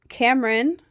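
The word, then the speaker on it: Camryn: Uh, my name's Cameron, but I go by Ren. You can call me whatever though. I really don't care. Um, Cameron, it's spelled C A M R Y N. It's a different spelling. It's like a more feminine spelling. There's no E, no E or anything like that.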